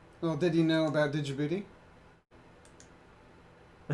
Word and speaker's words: Djibouti: Did you know the D in Djibouti is silent?